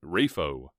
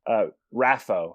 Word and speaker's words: Raffo: Rafo. Is that correct? Raffo, technically, is how it's pronounced.